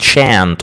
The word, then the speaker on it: shan't: And in American English as I said they pronounce it shant.